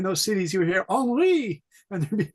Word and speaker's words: Henri: Henri.